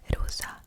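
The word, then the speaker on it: rosa: color is pink and the translation to that is rusa which is spelled r-o-s-a so that is the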